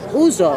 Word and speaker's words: ouzo: Esto es uso. Uso. El uso es el licor típico griego. Se escribe ouzo.